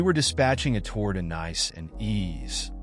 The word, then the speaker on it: Nice: in France we were dispatching a tour to nice and ease pronounced correctly sounds like nce and as but when it was called over